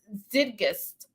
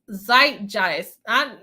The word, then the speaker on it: zeitgeist: Zidgist, I think I'm still saying that wrong.